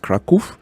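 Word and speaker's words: Kraków: Poland a place called Krakow they call it Krakow but it's actually pronounced Krakow and I know the place because that's where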